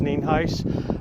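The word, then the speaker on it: Nienhuis: Hernando County Sheriff neenheis spelled n-i-e-n-h-u-i-s and it's pronounced neenheis we're here out at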